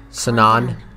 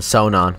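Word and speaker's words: Sonon: have helped you back sanan sanan remember we're here for a reason I would have called him son on but that's why I didn't pronounce his name I'm sorry yeah we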